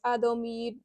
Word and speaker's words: Admirabilis: So this is, and I really should learn how to pronounce their name, honestly, because in the English it's like Admirabilis or something. In the Japanese it's Adomirabisu, Ado Adomirabisu. I don't know if this